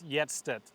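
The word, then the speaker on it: Hjertstedt: It's Yetstet, Y-E-T. Yetstet. Gabriel Yetstet.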